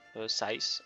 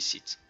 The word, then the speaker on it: Scythe: Sith, 6, Size. On va dire, je sais pas comment vous le prononcez vous. Enfin, moi je dis Sith. Voilà, je me fais pas chier. Et je le prononce peut-être un peu en version française.